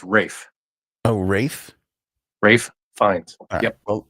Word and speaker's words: Ralph: I thought it was it's Ralph findes it's spelled Ralph but it's Rafe oh ra Rafe finds